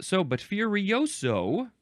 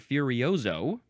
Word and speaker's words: furioso: But furioso, or with a Z sound, furioso, this is an adverb or an adjective from circa 1823, and it is with great force or vigor.